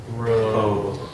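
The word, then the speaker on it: rho: Let's just pronounce this one. Row. Row. Every time you see this, it's a r. Row. Ruh. You just got to drill that into your head. Ruh. That makes the sound ruh.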